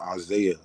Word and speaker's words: Isaiah: So haYahu, like, in English it's pronounced Isaiah. So it's just a different pronunciation of the name Isaiah.